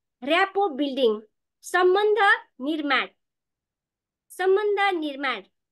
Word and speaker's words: rapport: अब भने मेरो आजको ट्रेनिङको विषयवस्तु रहेको छ ऱ्यापो बिल्डिङ। सम्झना मे, मेरो सेयर भएको छ स्क्रिन? हस्, धन्यवाद। इन्चार्ज पनि गरेकी छु। ल सर म्यामहरू, आजको मेरो विषयवस्तु रहेको छ ऱ्यापो बिल्डिङ, सम्बन्ध निर्माण।